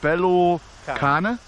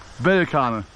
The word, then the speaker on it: bel cane: Is it bello cane? Sì. Bello cane? Sì. Is it like good pronunciation or like Bell. bel? Bel cane. Sì. Easy. Bello, a bell is the same, but sometimes you use one or the other.